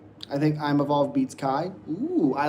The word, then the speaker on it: Kaio: You forget to pronounce the O in Kaio. Well, just because I'm not for sure how to pronounce it, so it's Kaio. Sorry. Kaio.